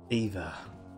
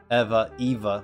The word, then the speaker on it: Eva: I went to the source, the Latin source, for the correct pronunciation of that word. Alright? Find me another country that says Eva with that spelling that isn't in America.